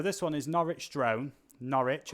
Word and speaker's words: Norwich: Norwich, or as the Americans say, Norwich.